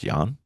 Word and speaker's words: Can: Um, it's spelled Can Kabadai, but that is not how you say it. I believe it's Jan, or I might be wrong.